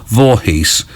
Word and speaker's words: Voorhees: on the radio and they do just pronounce it vorhees which is how it's spelled but that's rather disappointing